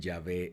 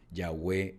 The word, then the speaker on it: Yahweh: En algunos lugares dicen Yahvé es Dios. Así que por la pronunciación, ya hemos dicho, ya hay mucha controversia y todo eso. Nosotros estamos utilizando con fines pedagógicos y de acuerdo a cómo lo pronuncian muchos de los judíos, Yahweh Elohim.